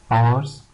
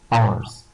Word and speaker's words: hours: Circle, breakfast, trampling, weekend, hours, here the H is silent, hours, scary, comments, تعليقات, comments, scary, fantastic, great, and boring.